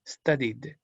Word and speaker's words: studied: El study, I es un sonido que si usted lo hace, vibra. Y si vibra, es un voice sound, entonces su pasado simple se pronuncia como una pequeña D. Studied.